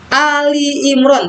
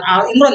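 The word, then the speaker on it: آل عمران: disebut al-baqarah Pasti disebutkan Quran Surat Ali Imron bukan Al Imron ya bacanya Ali Ali itu keluarga Imron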